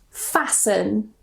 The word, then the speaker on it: fasten: So the first rule, normally if we have the ending S-T-E-N, we normally don't pronounce the T. So we just pronounce it sun, sun. For example, fasten.